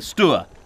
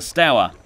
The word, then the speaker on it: Stour: I was in the Sea Scouts there, and they definitely called the river the Stour, not the Stour, hence my pronunciation.